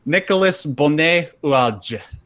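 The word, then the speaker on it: Nicolas Bonnet-Oulaldj: Nicolas Bonnet-Oualge. That's actually how it's pronounced.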